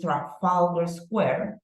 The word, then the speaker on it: Trafalgar Square: the first one right that is track folder Square we already said that the stress syllable goes in the syllable four now we have the